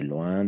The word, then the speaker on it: loin: En effet, le village où je vais en vacances est loin de la mer. Loin, ici. O-I et O-I latine et Y, on va toujours prononcer comme un OIA.